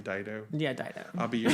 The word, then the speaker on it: Dido: Dido or whatever. How do you say it? Her name Dido.